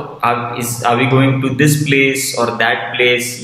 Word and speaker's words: Playace: बट इसको pronounce करते हैं एकदम सिंपल तरीके से, प्लेस।